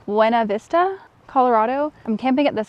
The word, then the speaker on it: Buena Vista: I'm currently in, I'm gonna say this wrong because it's not the correct pronunciation of the word, but it's the correct way to say the name of the town. Buena Vista, Colorado.